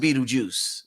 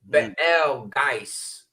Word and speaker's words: Betelgeuse: So it's pronounced Betel. Betelgeuse. So and it's also to show the allegiance to a literal beetle and to understand the importance of the beetle.